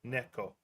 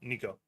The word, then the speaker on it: Neko: Well, because because Neko is cat in Japanese, and that's usually what most people go with, the Japanese pronunciation, Neko. So that's what. So I'll call Nico. If that's what they prefer, that's what I'll go with.